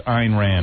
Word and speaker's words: Ayn Rand: Or Ian Rand, something like that. Ayn Rand. Ayn Rand. Or whatever. No, you said it right. It's Ayn Rand.